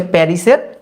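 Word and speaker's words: Paris: আর প্যারি, এটা হচ্ছে প্যারিসের ফরাসি নাম। আমরা যেমন বলি প্যারিস, ওরা বলে প্যারি, এসটা উচ্চারণ হয় না।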